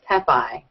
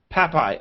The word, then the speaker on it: Pepaj: We have Babette, and please tell me if I pronounce this wrong. Pepaj, is it? No, it's close. It's Pepaj. Pepaj, okay.